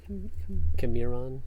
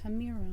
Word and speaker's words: Camiron: Camiron? Camiron. It's like Cameron, but a little different. Cameron. Yeah. Yeah. Camiron. It's where you stress the syllables.